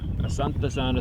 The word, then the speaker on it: Asante sana: Asante sana, squash Yeah. banana. All right. No, Asante sana just means thank you. So Squash thank bananas. you, squash bananas. Rhymes with it.